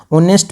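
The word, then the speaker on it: honest: ऑनेस्ट में जो है एच साइलेंट रहता है। तो ऑनेस्ट की जो साउंड है जो प्रोनंसिएशन है ये वोवेल साउंड से स्टार्ट हो रहा है।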